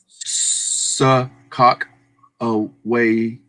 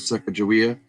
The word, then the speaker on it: Sacagawea: Cameron says, I used to pronounce it that way too, Louie, but apparently it's pronounced Sakak away instead of Sacagawea.